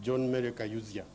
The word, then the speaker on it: John Maia: One is the way my name is pronounced. I'm called John Maia.